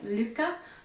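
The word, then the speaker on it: Lykke: and i used um i like the way andrew mary says lucca but i think it's actually pronounced liquor needles and l-y-k-k-e the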